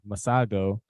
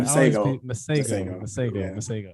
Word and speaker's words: Masego: So you sent over 90s by Braxton Cook and Masago. Am I pronouncing his name right? Masego. He had a whole song where he was chanting his name, Masego.